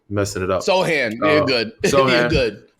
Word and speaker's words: Sochan: I don't know how to pronounce his last name. Messing it up. Sohan.